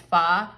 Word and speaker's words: pho: It's spelled pho, like F-H-O, but it's pho.